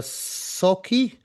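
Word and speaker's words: Sauchie: So Scotland's biggest poltergeist case, the Socky poltergeist. Is that the right way to pronounce it?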